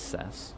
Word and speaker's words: Cess: It's C's or Cess? Either way, they changed R. The first one is correct. It is Cess.